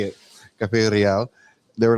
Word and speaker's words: Cafe Real: I know uh when I first got told about Cafe Royal, and I'll say it like that cuz that's just how I say it, Cafe Rial.